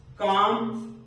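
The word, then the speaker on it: calm: होगी काम वाम पाम लास्ट में एम आ रहा है इसके पहले एल आ रहा है तो यह एल भी साइलेंट हो जाएगा उसके बाद का हाफ में देख एफ आया है उसके पहले एल आया है इस तरह से अगर कोई इन अक्षरो में से रहे और उसके पहले ल रहे तो ये साइलेंट मोड में चला जाता है ये अक्षर साइलेंट हो जाता है याद करने के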